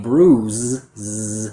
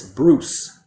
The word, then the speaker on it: bruise: So the mistake I hear with this word is the pronunciation of the voiced Z sound for the letter S. So instead of saying bruise with that voiced vocal cord quality, students pronounce a voiceless sound and it sounds like this. Bruce, Bruce.